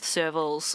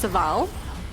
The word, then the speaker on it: Serval: Suval, whose name is spelt Serval. And because I used to work with Servals, I have to work quite hard in my head not to just call her Serval. So it's pronounced Saval.